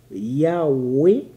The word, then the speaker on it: Yahweh: parue en 1961 que la prononciation Yahweh est plus conforme à la traduction du tétragramme, mais que nous avons retenu la forme Jéhovah plus populaire.